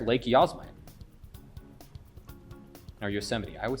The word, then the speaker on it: Yosemite: And I got an excuse that I said Yahsemite, not Yosemite I'm Canadian.